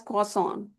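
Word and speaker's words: croissant: So in place of R we have W sound here and T sound also is not produced. So we we pronounce it as quason.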